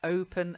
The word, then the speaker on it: open: And then open with a nice open O. Open. Open. Yeah, that's better. If you say open, it sounds too, yeah, it's just like, what? Opera? Uh, opinion? What? But open, it makes it much clearer.